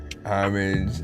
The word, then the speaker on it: homage: The age is silent for homage, and I don't know, hopefully under 3 minutes or whatnot.